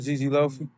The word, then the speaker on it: GG Loafy: So, how do you properly say your name? Loaf or Loafy? No, you said it right, Gigi Loafy.